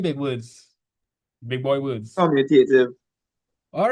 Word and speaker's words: commutative: Because multiplication It's computative. It's commutative. Oh, wait, I say it wrong. Sorry. Yeah, you see it. You say computative.